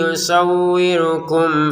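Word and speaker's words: يُصَوِّرُكُمْ: harakat panjangnya ditekan jangan sekedarum kurang kurangukum arham mim sukun bertemu fa kita baca dengan jelas ya jelas itu apa artinya Pak yaitu kita jangan baca dengungan yusawirukum f nah itu enggak boleh kayak gitu yawirukum Arham.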